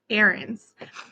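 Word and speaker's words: Heirens: George arens it uh it's spelled h e i r NS but it's pronounced erands the H is silent he was born November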